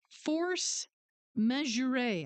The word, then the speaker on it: force majeure: It's force majeure, I guess is how it's said. Majeure. It sounds like a French term.